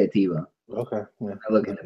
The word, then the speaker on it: Atiba: It's Ataba, by the way. I just want to correct you on that one, because that's what I do. It's spelled Atiba. I'm going to say Atiba.